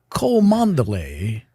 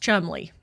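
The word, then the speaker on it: Cholmondeley: they like to yes they like to pretend 90% of the letters aren't there according to British pronunciation that is pronounced Chumley Chumley Chumley it is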